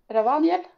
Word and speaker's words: Ravaniel: And the mask was made by Ravaniel.